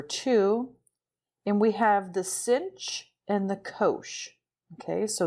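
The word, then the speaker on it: sinh: cinch of x and this is pronounced cinch if we're trying to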